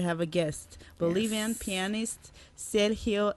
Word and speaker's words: Sergio: Okay, let's put it this way, because tonight we have a guest, Bolivian pianist Sergio Escalera. Is that the right pronunciation? Yeah, that's Can I do that? Actually. Sergio. Sergio, is that right?